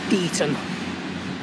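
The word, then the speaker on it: Deighton: Looks like it is, well, according to Anne, it's pronounced Deaton. Yeah, it'll be Deaton probably.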